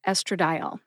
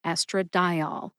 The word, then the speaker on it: estradiol: Ethinyl estradiol. Emphasize eth in ethinyl and emphasize di in estradiol.